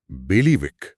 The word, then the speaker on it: bailiwick: बेलीविक बेलीविक spelling थोड़ी मुश्किल लग रही है।